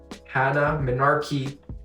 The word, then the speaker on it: Hannah Minarchi: is Hannah Minarchi, everyone.